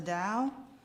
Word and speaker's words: Dao: see this sign and I don't know if you connect it with dosm or Tao but it's pronounced the Dao I think a lot